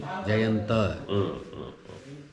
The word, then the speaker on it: Jayanta: Pronunciation in Sinhala and Sanskrit is same, but in Hindi it's slightly different. We say Gayant or Something like that. Jayant, whereas in Sanskrit and Sinhala it will be Jayanta.